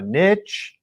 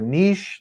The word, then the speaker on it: niche: today's episode talking about a niche or a niche depending on how you say it is super relevant